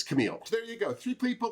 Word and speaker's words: Kalmele: actually messaged her to ask her how does pronouncing because i want to say it wrong and it's camille there you go three people to look at